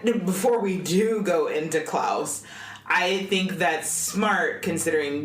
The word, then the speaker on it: Klaus: It's Claus, I suppose, supposed to be pronounced Klaus, which is how they pronounce it in the movie.